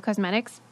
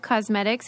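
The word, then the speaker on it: Causemetics: brain candy that's thrive cosmetics it's spelled like you know because c-a-u-s-e-m-e-t-i-c-s dot com slash brain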